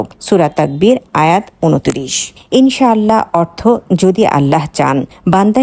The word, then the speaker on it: ইনশাআল্লাহ: ভুলভাবে লেখা হয়ে থাকে সঠিক উচ্চারণ হবে ইনশাআল্লাহ এবং আপনারা স্ক্রিনে দেখতে